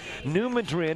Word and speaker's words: New Madrid: the pronunciation please do New Madrid is actually mad like I'm man for the squirrels and read like squirrels getting rid of all opponents well thank you very